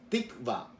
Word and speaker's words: tikva: La pronunciación no quizás sea la más correcta, pero la palabra hebreo es tikva. T-I-K, V de Víctor y A.